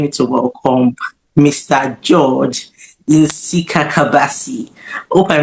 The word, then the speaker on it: Nsikakabasi: Um I'm actually really glad. I mean like the way you you actually pronounc in Sikabasi. I mean that's that's absolutely very good.